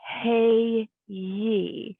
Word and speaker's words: hey ye: So the word is hey ye, and it is pronounced hey like a horse with hay, and ye like ye be beautiful.